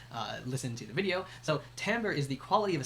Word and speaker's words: timbre: So remember, it's pronounced timbre.